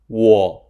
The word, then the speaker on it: 我: （我有一個姊姊，兩個弟弟。你呢？） In this sentence, the character '我' (wǒ) represents a person holding a long weapon to protect themselves. To remember the pronunciation of '我,' you can associate it with the first syllable of the word 'woman.'